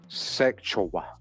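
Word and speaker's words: Sekyiwa: Afeni and Mutulu had a daughter, Tupac's half-sister, Sek Yiwa, pronounced Sekchowa.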